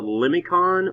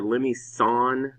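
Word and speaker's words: limaçon: a this is called a limicon or a lemmy sawn i think there's actually like one of those little i can't think of the the accent there's like a little accent on the sea i think it makes it a soft sea anyway song i think it's french it means snail not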